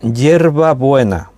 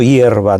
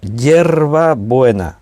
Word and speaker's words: Yerba Buena: Entonces se llamaba Yerba Buena, así como te lo estoy pronunciando yo. No hierba, no, Yerba Buena, así se llamaba la ciudad.